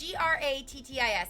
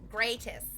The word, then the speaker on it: grattis: Is it gratis? Because it's Grattis, and I'm like, gratis. That's wrong. That's the wrongest.